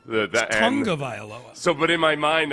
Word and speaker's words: Tagovailoa: You know what always gets me with Tua is the fact that it's pronounced way differently than it's spelled. Tagovailoa.